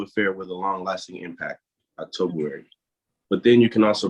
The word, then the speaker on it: Octobuary: So we have to talk about October-wary.